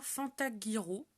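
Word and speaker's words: Fantaghirò: Et en italien, Fantaghiro. J'imagine que ça se prononce comme ça parce que c'est GH.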